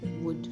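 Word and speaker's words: would: सकते हैं अगर हमें अगर हम ऐसा समझ रहे हैं कि एल साइलेंट कहां प है तो ओयू एलडी वाले पैटर्न में एल साइलेंट होता है जहां पर भी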